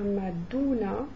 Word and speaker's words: Madonna: Madonna se prononcera Maduna.